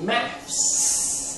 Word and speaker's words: maths: for the British well I would say do you study maths there's an S at the end math I see okay because it's short for mathematics so how how do